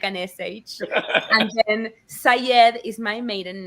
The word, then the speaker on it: Saied: So Shamile is an Arabic name pronounced with an Argentine accent. We say the Y like an SH. And then Sayed is my maiden name, which is Arabic.